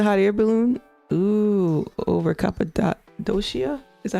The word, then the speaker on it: Cappadocia: Ooh, over Cappadocia? Is that how you say it? Cappadocia?